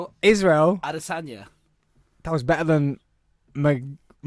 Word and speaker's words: Adesanya: Asanya. I was like, that sounded Chinese. Asanya. Adiot. No, what is his name? You say his name. Israel Adesanya.